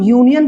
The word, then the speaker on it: union: बट यहां पे एन नहीं लगेगा, क्योंकि जब हम यूनियन को प्रोनाउंस करते हैं, प्रोनाउंसिएशन इसका क्या होता है, इसका स्टार्ट कैसे होता है? यू, नी, य, न, यू, य क्या आता है हमारा?